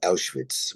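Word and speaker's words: Auschwitz: of the city to aitz which is the German pronunciation of the city and my father said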